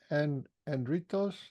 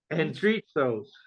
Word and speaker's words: Andritsos: I was going to ask you, how do you say your name? Is Andritos? Andritsos. And Andritsos. It's a Greek word.